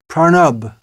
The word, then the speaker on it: Pranab: president of the Republic of India was named pranab the Bengali pronunciation pranab mukarji so it's well known as a name